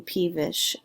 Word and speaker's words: peevish: be described as being peevish and the accent marks goes on the P part yeah it really does